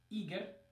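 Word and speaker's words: Игорь: is you gore okay the stress is in different places in the first one it's on the first syllable eager and in the second word it's on the second syllable you go and neither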